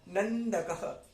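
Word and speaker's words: नन्दकः: उसके बाद नंदकः, आधा ना है, अन आएगा, अन, न नहीं आएगा, यहां अन आएगा, नंदकः।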